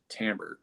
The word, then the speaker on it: timbre: we call Tambor and it's spelled timbre but it's said Tambor and so what do